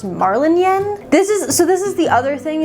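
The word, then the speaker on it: Marlinchen: I know that the author calls the main character Marlin Chen, but I believe Marlin Chen, the way it's spelled, is a German name, and it should be pronounced Marlin Yen.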